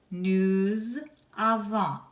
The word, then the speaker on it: nous avons: Nous avons also ends in an S. You do not pronounce the final S on that form either.